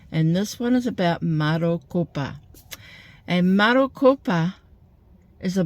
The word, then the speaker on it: Marokopa: So I know there's a place in America called Maricopa but this is Marcupa and it is in